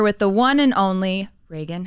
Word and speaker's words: Reagan: Yeah, it's Reagan. Okay. Like Ronald Reagan. So what do you get that a lot? Yes. Because it's the way it's spelled? Yeah, people call me Regan all the time.